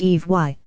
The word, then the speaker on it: Ivi: In the Polynesian language Ivi is pronounced Eve.